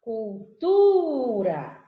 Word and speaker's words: cultura: Muito bem, ela está em negrito, essa sílaba, sim, justamente porque é a sílaba tônica, cultura. Então, tu, que é a sílaba tônica na palavra cultura, ela se apresenta no verbete, ó, em negrito.